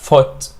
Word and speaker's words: foot: ولكن لما بنقول o برضه اهي مش food بقى، لا foot بننطقها foot. It's a low vowel or it's a short vowel which is sound, okay?